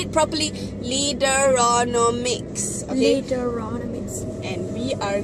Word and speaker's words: Leaderonomics: Say it properly, Leaderonomics.